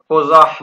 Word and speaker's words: قزح: بیان کرتے ہیں کہ قاف کو ضمہ پیش دی جائے گی، وفتح الزاء المعجمة، اور یہ را نہیں ہے زا پڑھیں گے اور اس کے اوپر فتح یعنی زبر ہوگی۔ قال الشیخ رحمہ